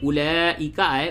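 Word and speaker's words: أولئك: भीरा कु शरीफ में उला इका उला का बहुत जगहो पर आएगा तो वहां पर यह वाव साइलेंट होता है इसे नहीं पढ़ते हैं लिखने में रस्म खत है आता है लेकिन इसे पढ़ा नहीं जाता क्योंकि देखेंगे आमतौर से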